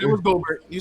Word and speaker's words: Gobert: It was Gobert.